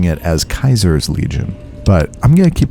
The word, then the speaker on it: Caesar: this he just said Caesar's Legion which is what I would call it but that's not how they pronounce it themselves that the Caesar's Legion